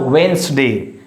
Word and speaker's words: Wednesday: It's a Wednesday. Here is D is silent.